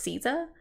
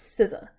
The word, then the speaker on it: SZA: longest time I thought her name was pronounced Caesar like because it's sza I was like I don't know how to pronounce that I think it's caesa but I heard them say it on SNL and it's sizza which I feel like